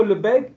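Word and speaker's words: Lebesgue: As you can see in lube when when you write lube there's s there but that s is not pronounced like in castle.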